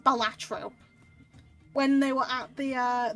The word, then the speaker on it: Balatro: And they said that it's not supposed to be Balatro, it's supposed to be pronounced Balatro. Instead of being, like, 3 separate syllables.